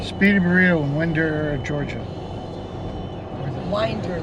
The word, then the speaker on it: Winder: They pronounce it Winder. Winder. It's really Well, hard in to Utah, remember. it's pronounced Winder. So Yes, you're right. if you're in Utah, it's Winder. If it's Georgia, it's Winder.